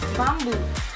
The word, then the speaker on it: bamboo: Okay, the stress or the accent should be on the second syllable.